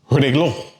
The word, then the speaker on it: reloj: For example, reloj. That word ends in J, okay? So it's a different consonant than the N or S. Therefore, the stress falls on the last syllable.